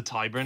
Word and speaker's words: Tyburn: Other people who go down sort of scavenging and hunting around the lost rivers are the Tyburn, is that the pronunciation? Is it the Tyburn Angling Society? Yes, the Tyburn Angling Society.